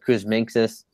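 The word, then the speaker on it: Kuzminskas: And then a punt player position, I mean, it's not great, but Kuzminskis, that's how to say his name.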